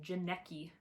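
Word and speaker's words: Janneke: This is a book about a girl named Janecki, rhymes with Jared Padalecki, who is trapped in like the goblin world as a slave to goblins.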